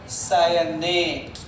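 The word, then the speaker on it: cyanate: CN होता है साइनाइट और CNO होता है सायनेट।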